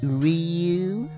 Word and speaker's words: Ryu: from street fighter um actually it's pronounced ryu maybe nowadays it's jill